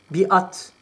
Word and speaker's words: biat: Biat veya beyat şeklinde okunuyor.